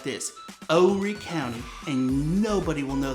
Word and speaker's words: Horry: live in is called Horry County. It's an Horry, and it is spelled with the H that is silent, just like in the word honest.